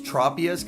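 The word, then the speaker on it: Tropius: yeah official pronunciations yeah it's it's tropas cuz it's like the tropics and drapion because it's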